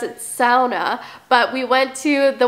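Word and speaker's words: sauna: Finnish word in the English dictionary and you pronounce it SAA but we went to the one at Horseshoe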